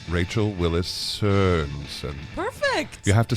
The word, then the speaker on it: Sørensen: Rachel WILLIS SØRENSEN.